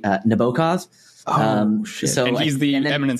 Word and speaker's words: Nabokov: then the proper pronunciation you have to use like a Russian accent uh and so I'm